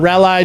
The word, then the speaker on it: Raleigh: Say Raleigh. Nope. Refuse to. September 9th. Raleigh, North Carolina. Raleigh, North Carolina, August 19th through the 21st. Raleigh? What do you call it? Raleigh?